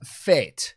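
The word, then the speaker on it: Fête: uh tank it's pronounced fate apparently it's a French word that's cool we're going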